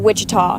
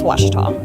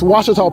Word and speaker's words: Ouachita: Back in Texas, everybody pronounces it Wichita, but really, it's Ouachita. Ouachita. How would you pronounce it? Ouachita. Ouachita. It's Ouachita Baptist University. Get it right. It's Ouachita, people.